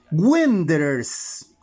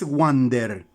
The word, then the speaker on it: Wanderers: Wanderers. El conjunto es Wanderers, no es Wander. Wander es la que se escribe W-O-N-D-E-R-S-R-S, está bien. Pero Wanderers va W-A-N-D.